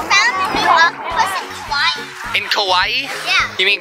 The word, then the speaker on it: Kauai: Dad, they found a new octopus in Kauai. In Kauai? Yeah. You mean Kuwait? No, Kauai.